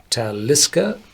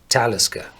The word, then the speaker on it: Talisker: the of the name so this is one of the very very few uh names in Scotland which do not have um the old gallic uh background and all the garlic names you're pronounced on the second syllable so you would say taliska but this is a Nordic name I do pronouns in the first syllable so talisca the only Distillery which